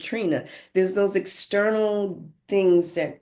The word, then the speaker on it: Trini: You know, my name is spelled T R I N I, but my parents pronounced it Trina.